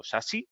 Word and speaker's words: SASE: que lo que es el concepto sase o sasi si lo pronunciamos más correctamente en inglés es relativamente nuevo Pues